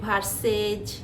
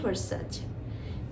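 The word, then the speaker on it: Versace: যায় এটা হচ্ছে ভার্সাসাজ ভার্সাচ এটা একটু হালকা কম বেশি হতে পারে তবে আপনি ভার্সেজ ভার্সাসি এরকম করে বলা যাবে না এটা হচ্ছে ভার্সাচ তো এই হচ্ছে দশ টার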